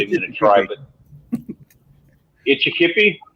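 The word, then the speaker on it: Kitchitikipi: I don't know the how to pronounce that Indian name, so I'm not even going to try. But Itchikipi? Kitchi-Tikippi.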